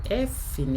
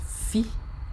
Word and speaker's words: fi: Don't forget, I told us that the way you pronounce this is your F in English, and it's pronounced Fi in Yoruba, as if you want to say a name like Philip.